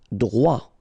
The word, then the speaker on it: droit: Droit. So final T not pronounced.